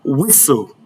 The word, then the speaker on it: whistle: Whenever you come across any of these words listed here, bear in mind that the T is silent.